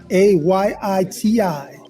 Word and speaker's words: Ayiti: ChefStefan.it, AYITI. This is the correct way to say Haiti.